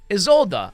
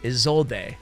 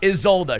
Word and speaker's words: Isolde: I think I'm pronouncing that right. I even went and I looked online. Let's hear it. Isolde. I always want to say Isolde or D or whatever. But anyway, Isolde.